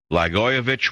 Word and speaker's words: Blagojevich: Blagojevich, which rhymes with itch, has run himself into a ditch.